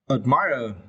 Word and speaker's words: admire: so this was a admirer it is a verb right you can see about the phonics you need to strap the second syllable if this was admire